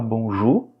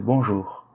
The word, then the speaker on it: bonjour: Faites attention à la prononciation du diphtongue OU, on le prononce par OU. Donc on dit bonjour. Le R à la fin, il est légèrement prononcé. Bonjour. D'accord? Ce n'est pas bonjour, non, c'est faux. Et c'est pas non plus bonjour. C'est entre les deux. C'est bonjour.